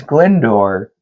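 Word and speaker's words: Glyndwr: His His name is Glendor. Glendor, which gave me just just no amount of giggles. Yeah. Glendor.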